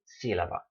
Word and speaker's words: sílaba: It should be tónica, but it's not tónica, it's tónica. So there you go. Written accent mark, and when you see that word, oh yes, must pronounce it sílaba.